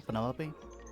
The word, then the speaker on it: Penelope: pleasure yeah Penelope for Penelope officially yes but I never can be bothered with all four syllables of it Penelope sounds a little